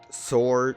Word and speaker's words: sword: double check yeah or so it's sore like W's silent and sword I just like to